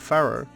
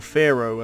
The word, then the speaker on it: Faro: The most southerly thrusting outcrop of the Skellige archipelago is the wild and untamed Isle of Faro, or Faro, as I think Faro is generally how it's pronounced by the locals.